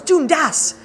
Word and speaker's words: Dundas: uh one time and the gentleman informed my husband uh sir you are mispronouncing your own name and my husband's like i am he goes yes it is dundas and my husband's like